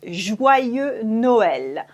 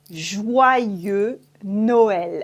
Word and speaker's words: Joyeux Noël: It's Joyeux Noël. Joyeux Noël. As you can see here, we don't pronounce the X at the end of joyeux. Joyeux Noël.